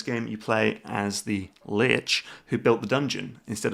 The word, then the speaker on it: Lich: pronounce Lich. Lich. Okay, Lich.